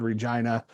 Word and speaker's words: Regina: towers, and it said Regina, the city that rhymes with fun.